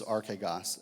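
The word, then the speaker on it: ἀρχηγός: The word here in the original language is archegos, and it's a word that's not used a lot in the New Testament. La palabra en griega se dice, how do you say that? Archegos. Archegas.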